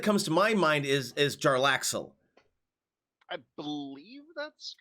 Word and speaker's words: Jarlaxle: Yeah, it's Jarlaxle.